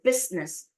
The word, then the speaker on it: business: A lot of people think it's three because of the E-I sound, but it's silent, so you don't say it.